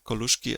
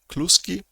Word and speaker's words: Koluszki: of mine, non-Polish friend, who was pronouncing Koluszki as Kluski, which I find quite cute, because in Polish Kluski means dumplings or noodles, so quite cute.